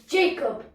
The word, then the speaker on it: Jacob: That Jack is such a naughty boy. Never does what I tell him to do. Go and clean your bedroom. You just said my name wrong. It's Jacob.